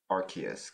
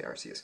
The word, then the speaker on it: Arceus: into pokemon legends archaeos i always i stutter at how to pronounce rks because i used to say rcs all right so last